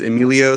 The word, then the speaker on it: Emilio: And then our third member, who's also, we couldn't come today, is Emilio.